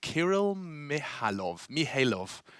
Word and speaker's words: Kirill Mihailov: The silent K. So it's Kirill Mihailov.